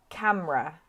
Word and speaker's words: camera: need to pronounce so the black sounds the ones you should miss out so we have several